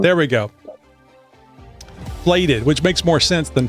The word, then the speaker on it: Flated: Anyway, Ryan Guay is the CEO, co-founder, and co-inventor of Flathead. It is Flathead, right? Or is it? It is Flated. Flated. There we go. Flated, which makes more sense than flatted.